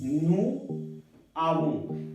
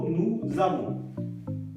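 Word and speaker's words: nous avons: हमने देखा था कि अगर हम इसको अकेला प्रोनाउंस करते हैं तो बनता है नू, इसको अकेला प्रोनाउंस करते हैं तो बनता है आवों, नू आवों। लेकिन क्योंकि यहाँ पे जो वॉवल और कॉन्सोनेंट क्रॉस कर जाते हैं तो ज की आवाज आएगी, नू जावों, नू जावों, ओके।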